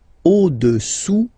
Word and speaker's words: au-dessous: Le cube est au-dessous du cylindre. Okay? Au-dessous, final S not pronounced, du cylindre.